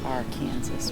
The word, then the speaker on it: Arkansas: in the shade along the Kansas River it's AR Kansas River yes it's not the Arkansas River when you're in Kansas it's the r Kansas rer I do okay which is a better